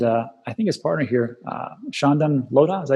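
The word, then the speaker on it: Chandan Lodha: Also, if you want to really delve into taxes and cryptocurrency, Shehan and I think his partner here, Shandan Lodha, is that how you say his name?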